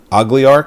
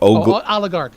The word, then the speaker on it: oligarch: Ogliarch? I don't care. No, oligarch. Oligarchy.